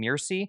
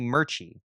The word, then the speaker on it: Murchie: I was saying Mirci. It's actually Murchie.